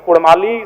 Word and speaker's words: कुड़माली: इसीलिए मैं मांग करता हूं कि र के स्थान पे अड़ किया जाए। चूंकि कुड़माली साहित्य की बात करें तो अड़ का महत्वपूर्ण स्थान है, जैसे काड़ा, माड़ा, भेड़ा, पीड़ा, डाड़ा, गौड़, मोड़, ये उच्चारण केवल कुड़माली साहित्य में ही संभव है।